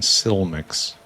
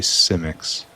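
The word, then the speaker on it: Simik: I got made fun of for putting L in L, pronouncing Silmix. But it's actually Simics.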